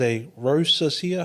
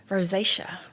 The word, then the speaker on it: rosacea: A rosesia. How do you say? Oh, rosacea. Rossacea.